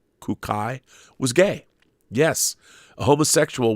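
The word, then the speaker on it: Kūkai: Buddhist Saint kodashi or kunkai you pronounce it kukai was gay yes a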